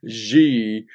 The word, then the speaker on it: Xi: went up 30 percent because G whose name is spelled XI was re-elected president for a